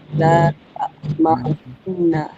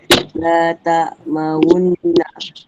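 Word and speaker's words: لا تأمنا: La ta'maunna. Macam mana Zarin? Macam mana Zarin? La ta'maunna. Okey, kita kena moncongkan, kita kena moncong Bibir. bibirnya.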